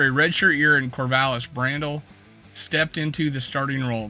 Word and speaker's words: Brandel: well I think um Randall pronounce Brandel which is I don't know brand people are calling brandell for some reason but it's Brandel it was four year